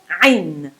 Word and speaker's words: ع: start off by saying it's not a vowel it's not iron it's not like the german i'm spy no it's so in order to say this i'm you need to start imagine imagine say start with an a sound an a ah yeah try try it with me ah long ah and at some point choke yourself ah it's like you are